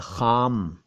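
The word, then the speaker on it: ख़ाम: खाम, ख के नीचे नुक्ता, आ की मात्रा म, खाम।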